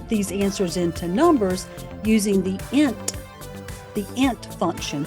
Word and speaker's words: int: You'll store their answers as variables, and then you'll convert these answers into numbers using the int function, pronounced int, like the word hint. It's short for integer.